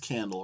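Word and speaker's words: Qandle: It is pronounced Candle, right? Mm-hmm.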